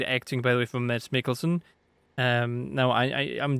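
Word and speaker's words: Mads Mikkelsen: But you know I I guess English people don't have a silent D in the name. Just ignore the D in the section how to pronounce his name. Mass Mikkelson.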